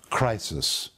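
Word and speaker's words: κρίσις: the greek word condemnation it is literally pronounced crisis and it is where we get the word for a crisis situation it depicts judgment it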